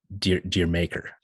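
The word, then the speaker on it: D'yer Mak'er: Because if you say it with an English accent, it sounds like Jamaica.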